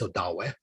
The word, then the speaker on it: Odawa: because of the uh the a used to be pronounced as odawe because that's what it was but then uh it became anglicized as odawa and then down here